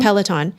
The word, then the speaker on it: Peloton: way so overrated next uh peloton or is it am i pronouncing it right it is peloton well i've never actually